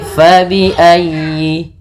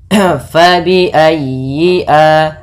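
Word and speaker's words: فبأي: Fa fa hati-hati jangan dibaca dengan pa. Kemudian dalam ayi ditekan huruf ya karena dia tasdid dan huruf ya termasuk huruf lin yang lembut di dalam pelafalannya jangan dihentakkan. Tapi fabiayyi fabiayyi fabiayyi alai.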